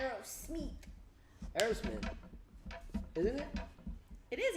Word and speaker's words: Aerosmith: You said Aerosmith, but the way you pronounced it sounded like you said Irish meat. Really? Irish meat? Irish meat? Irish whiskey. Say Aerosmith. Aerosmith.